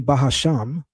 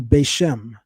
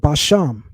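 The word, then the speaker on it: בשם: We call it in Hebrew bashm bashm. He says to call it basham. Okay, that's better than bahasham.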